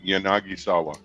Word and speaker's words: Yanagisawa: How do you pronounce his name again? Sorry, who? Yanagisawa? Yep. Yanagisawa.